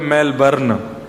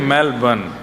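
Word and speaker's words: Melbourne: रहते हैं मेलबर्न हमारे एक भैया बोले मेलबर्न जो मेल को जला दे मेलबर्न मैंने कहा नहीं मेलबर्न र जो है वो साइलेंट बोलो तो लेकिन हुआ क्या यहां आके इससे बढ़िया तो भारत में ही थे।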